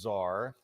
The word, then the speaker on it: czar: 11 Alive Chief Investigator Brendan Keefe, our numbers czar, the chief. Czar. That's spelled C-Z-A-R.